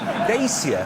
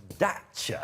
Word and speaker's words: Dacia: Dacia have got their name wrong. Have you seen the car ads they've been doing? They keep referring to themselves as Dacia. No, I think that's because that's how you say it in Romania, where it's built.